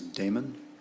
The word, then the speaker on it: Damon: Miss Damon, did I pronounce that correctly?